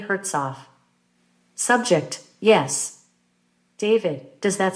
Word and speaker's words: Hertzof: David So something with the first syllable being Herz subject yeah David now let's just look at that second syllable and forget about hurt what does that second syllable sound like subject off David say it again subject off David so like Hertz off o subject o David so you think your last name had two syllables subject yeah David and